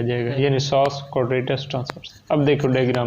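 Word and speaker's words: psoas: Diaphragm, ये भी diaphragm, ये सॉस मसल पी, हाँ पी पहले आता है लेकिन वो साइलेंट होता है, और फिर क्वाड्रेटस और फिर ट्रांसवर्स, ये तीन मसल हैं।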